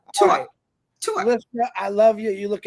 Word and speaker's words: Tuach: no I'm telling you not tuak but tu tu I love you you